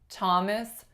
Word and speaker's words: Thomas: So some examples that come to mind: Thomas and Teresa, the names. Thomas, Teresa. We do not say Thomas, Theresa, even though usually that's how those names are spelled.